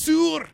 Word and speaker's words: Saor: Saor. You're like, what? It's a Scottish band. Yeah, you got to pronounce it like Brandon did. It's Saor.